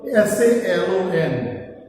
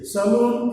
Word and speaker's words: salon: સલૂન ઇઝ a wrong pronunciation, but salon is the right pronunciation.